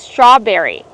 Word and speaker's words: strawberry: Kevin, how do we pronounce strawberry? Strawberry. We see the TR together making the ch sound, like train and truck. Together, straw. Make the R sound with the voice, not straw, but straw. Strawberry.